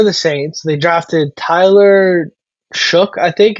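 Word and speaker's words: Shough: They drafted Tyler Shook, I think. I think you pronounced that GH as a K, if I remember correctly.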